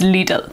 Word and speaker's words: Lidl: lidl little little sorry where i'm from we pronounce it as little but i know that the correct pronunciation is legal so forgive me if i accidentally say little